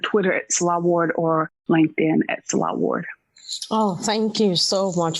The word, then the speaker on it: Nselaa Ward: are the same it's salah ward my name is spelled a little differently it's n-s-e-l-a-a-w-a-r-d um the n is silent in my name but my name is